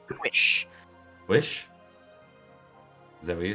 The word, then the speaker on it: Powys: Yeah, I think it's pronounced Wish.